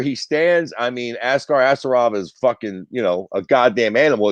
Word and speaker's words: Askarov: Askar Asarov, is that how you pronounce the dude? Askarov, yeah.